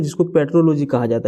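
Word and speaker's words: petrology: अगला सवाल देखिए, पोट्रालॉजी किसका अध्ययन है? पोट्रालॉजी जो है किसका अध्ययन है? तो पोट्रालॉजी यहाँ पे कुछ गलत लिखा हुआ है, ये इसका प्रोनाउंसिएशन जो है ना पेट्रोलॉजी होता है, ठीक है।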